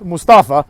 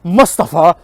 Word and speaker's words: Mustafa: First of all, it's neither of those, it's Mustafa. Okay, that's how you would pronounce it in any kind of like Muslim-y language. It's not Mustafa.